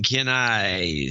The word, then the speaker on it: Kenai: media vidya Kelly from Kenai sounds like keen eye Kelly from Kenai $500 this is gonna be a long episode today Kelly from Kenai Kenai it's been a